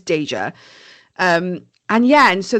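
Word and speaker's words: Daeja: And she just feels like something tells her like, "DA." That's how I'm pronouncing it. D A E J A. I feel like it's Dja.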